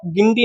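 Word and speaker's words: Guindy: गिंडी national park. इसकी spelling है English में देखें तो जी यू आई एन डी वाई। लेकिन हिंदी में इसे गिंडी बोलते हैं।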